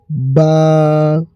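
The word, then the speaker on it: باء: আলিফ আলিফ আলিফ বা বা এই বা অক্ষরটি হচ্ছে এই বা অক্ষরটি দুই ঠোটের উপরে ঠোট রেখে বের হবে এই অক্ষরটি। বা এই অক্ষরটিকে আকালি পরিমাণ টান দিবেন।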